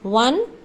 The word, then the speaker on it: one: Since o in one is pronounced as w in one a consonant sound, यहाँ पर हम देखा